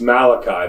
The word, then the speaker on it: Malachi: Nemesis of Fonzi on Happy Days but it's pronounced Malachi Malachi Richards a junior from Glendale are week